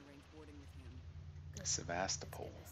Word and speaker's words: Sebastopol: Sebastopol, that's how you say it.